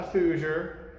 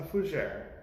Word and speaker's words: fougère: no it's not a fooser it's not a fugiri or a fuguer it's a fujere now even my pronunciation is probably incorrect because you know the